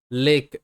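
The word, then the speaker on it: lake: তারপর রয়েছে লেক, এল এ কে ই লেক, একই প্যাটার্ন রয়েছে ফেক, লেক।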